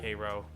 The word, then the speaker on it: Cairo: I'm pretty sure there is a Cairo down there, but they pronounce it more Midwestern, like Cairo or something like that. It's spelled the same way.